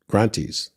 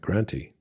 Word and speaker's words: Granthi: And it shows the 3 Grantis, right? And the Granti is spelled Granthi, like high, like high grant, right?